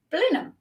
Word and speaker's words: Blenheim: as everybody else and decided that it is pronounced Blenheim so that's where I live um and I